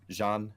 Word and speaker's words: Jeanne: I'm half tempted to disco Jenny but gene or GN or yeah I mean just Jean French pronunciation easy way to go with it yeah a few